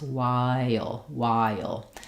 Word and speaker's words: while: As we're saying the I to the ul sound, the I is a front high vowel, and the dark ul has a little bit of a schwa before it. So you might hear it sound kind of like Y, and then I have a little y connecting the I with the ul. So even though it's fairly short, it's one syllable, it's almost like it's two syllables, while.